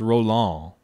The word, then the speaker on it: Roland: So pronounce Roland without the D.